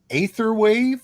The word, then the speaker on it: Aetherwave: Do you pronounce it Aetherwave or Etherwave? So Aether is actually the correct Latin pronunciation. It should be written with a ligature.